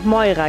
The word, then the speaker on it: Moira: Wir durften ihr den Namen Moira geben, auf Griechisch Mira ausgesprochen, bedeutet es das gezogene Los oder auch Schicksal.